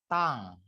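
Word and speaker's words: tongue: Next ada tong. Ini bacanya tong. Tong gitu ya.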